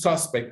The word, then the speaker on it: suspect: Okay, if you see when you use suspect as a noun, the stress is at the beginning. It's like here. When you use it as a verb, it's in the second syllable.